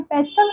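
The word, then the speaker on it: pestle: नाउ पेस्टल motor, यहाँ पे देखिए टी साइलेंट रहता है, लिखते हैं पेस्टल बट बोलते हैं पेस्टल एंड मोटर।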